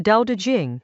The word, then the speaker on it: Dao De Jing: The Dao De Jing, pronounced Dao De Jing, opens with that claim